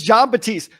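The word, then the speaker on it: Batiste: because I want to make sure I was pronouncing his last name correctly but yes it is John batist do you know anything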